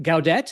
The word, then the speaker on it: Gaudette: So tonight we've got a fabulous Robert Gaudette. Am I pronouncing it properly there, Robert?